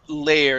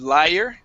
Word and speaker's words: layer: right let's go to the word layer instead of liar okay the thin layer